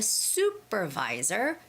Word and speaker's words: supervisor: work oneon-one with a supervisor supervisor now when I hear some Koreans read this word they would say Sherer that's wrong okay so it's got to be soup like you know you're eating